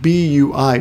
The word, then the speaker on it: V: V of course but when you pronounce it in Japanese you pronounce it Bui Bui breeding and the